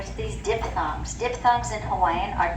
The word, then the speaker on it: Hawaii: Hawaii with a V, yes.